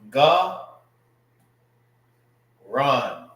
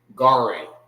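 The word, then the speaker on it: גָּרוֹן: Now, it's not garan, all right, which is, that's how you will pronounce it in the English. You will say garing, garing. That's not how you say this word, all right. It's ga, run, garan, not garan.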